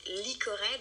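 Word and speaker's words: Lycored: Je vais la prononcer à la française. Donc, Licored, donc L-Y-C-O-R-E-D.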